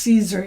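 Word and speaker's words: Siser: the Caesar blend I it's pronounced Caesar even though it's SI I think it's made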